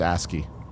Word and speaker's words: ASCII: yeah ask you al Brock says it's pronounced ASCII Asda I hope you